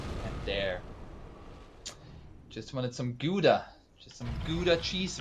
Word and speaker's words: Gouda: As a Dutch person, I am obliged to inform you that it's Gouda, but you know, I also realize that I can't ask people to pronounce it, so Gouda it is.